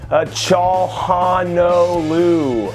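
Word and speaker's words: Çalhanoğlu: your name is she says you got to pronounce the name a cha haw know Lou okay bro okay Johan Oh Lou disrespectful bro like yo I'll just say however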